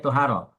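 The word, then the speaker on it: طُهارة: Adapun tuharo, amat tuharatu ini bacanya tuharo. Amat tuharatu bidomi, adapun tuharo dengan dibaca dhammah huruf to, fasmun libaqiyatil ma'i adalah nama untuk sisa air.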